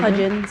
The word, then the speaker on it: Hudgens: Shetty officiated Vanessa Hudgens. Is that how you say it? Hudins. Hudins her wedding.